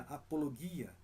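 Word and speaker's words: ἀπολογία: Que no grego se pronuncia apologia, que literalmente significa defesa, resposta.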